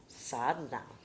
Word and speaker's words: sadhana: Mom to pronouncing sadhana that's the Texas pronunciation so here's the real pronunciation sadhna that's so pretty isn't